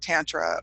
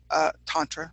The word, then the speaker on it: Tantra: So, and I know for a lot of folks, you've probably heard of different practices like Tantra or Tantra, we'll say it correctly, or different methodologies for playing with stimulating.